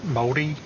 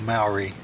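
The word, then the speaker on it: Māori: okay jumping back in there's a few different ways as we pronounce the most common is moldy or Maori just to clarify it's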